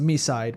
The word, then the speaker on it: MiSide: I'm gonna have to look up uh Misside uh Wiki. By the way, we we found confirmation from the English dub that the game is pronounced Misside because one of the meetas say Misside.